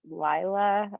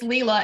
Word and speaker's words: Leela: you yeah go ahead I'm not sure is it Lila or you can unmute yourself I'm sorry I'm probably mispronouncing your name you know it's Leela and I couldn't figure